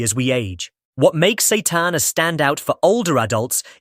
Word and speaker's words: seitan: It's called seitan, pronounced seitan, and it might just be one of the best-kept secrets in muscle-building nutrition, especially for seniors.